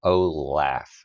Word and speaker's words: Olaf: Nordic for treasure, and is pronounced Olaf, as in laughing, referring to his role as comic relief, I guess.